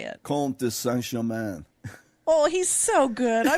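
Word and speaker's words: Comte de Saint-Germain: Comte de Saint Germain.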